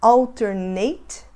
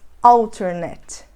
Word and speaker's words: alternate: palavra significa alternativo e ela se fala halterneck ou internet então a gente não fala alternate nem alternate Mas outernet você tá vendo a